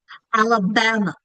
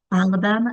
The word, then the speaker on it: Alabama: So, if we're going to show the accented syllable in Alabama, Alabama, we can have them practice stretching out that accented syllable. Alabama. Where do you hear the schwa? I hear the schwa at the end of Alabama.